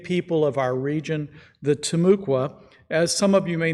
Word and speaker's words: Timucua: We honor the Temuka Seminole, Timucua, I keep mispronouncing that one, Seminole and all other native